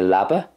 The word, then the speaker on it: leaba: dialects it's cnoc next leaba so there's not a whole lot of difference between the munster and the connacht way i would say leaba you might get a pronunciation like leaba in connacht but there's not